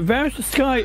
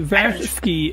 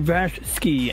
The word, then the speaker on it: VashSky: you know critical Drinker might be Irish but V sky is often mispronounced it's actually Vash ski it's his like real name Vash ski and so that indicates he's Eastern European so